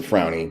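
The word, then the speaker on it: Fraune: I'm here with my friend Frawny. Now, your last name is spelled F-R-A-U-N-E, and you pronounce it Frowny, but it looks like frown.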